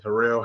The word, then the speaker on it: Harrell: You can pronounce it either way you're comfortable. Honestly, Harrell, Harold. I mean, either way is getting done. Because I just honestly, want to pronounce it like your parents do, so I don't get in trouble with them. both my parents pronounce it differently. My dad is my dad's last name, but he pronounces it Harold. My mom says Harrell.